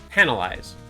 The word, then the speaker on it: penalize: say this word penalize oh like a pen to write with penalize okay cool I can